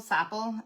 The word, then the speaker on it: sapele: Sapele?